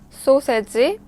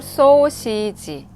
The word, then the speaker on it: 소시지: This one is hot dog, 소세지. Korean pronunciation is 소세지. 소세지 or 소시지.